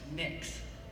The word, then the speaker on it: Mx: somewhere in the middle MX is the gender-neutral term for mr. or miss and it is pronounced mix so you may call